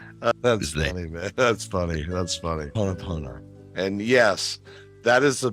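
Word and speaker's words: Hoʻoponopono: How do you pronounce this word that looks like hippopotamus to me? That's funny, man. That's funny. Ho'oponopono.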